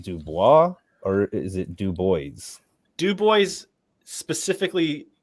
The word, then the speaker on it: Du Bois: Bois is it du Bois or is it Dubois Dubois specifically said that it's pronounced Dubois because people asked him that all